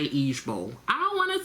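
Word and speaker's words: IJBOL: is IG I'm sorry i j b o l pronounced as each Bowl and it's an acronym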